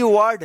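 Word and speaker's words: war: तो यहां पे ध्यान रखिएगा आप कि जब किसी वर्ड में ए के बाद लास्ट में आर रहता है तो इस ए का आ उच्चारण होता है।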